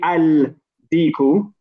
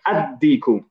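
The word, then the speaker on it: الديك: say a daddy cool because the Dan on deacon is a son letter we put sugar on it and we do not pronounce the lamb so we don't say I'll equal no we say a d cool okay which brings us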